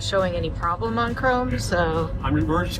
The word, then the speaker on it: Krome: Yeah, and Chrome is spelled Krome.